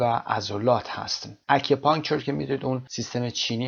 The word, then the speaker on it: acupuncture: اکیوپانکچر که میدونید اون سیستم چینی هست که در انتها آمده، طب سوزنی هست. اکیوپانکچر قسمت اول ا استرس میگیره، اکیوپانکچر.